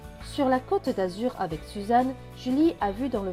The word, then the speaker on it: Suzanne: Les deux N se prononcent N. Donc N et E, ne. Donc ce mot va se lire su, za, ne. Suzanne, Suzanne.